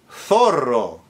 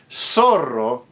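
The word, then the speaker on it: zorro: Thorro fox in Castellian Spanish but sorro in Latin American Spanish.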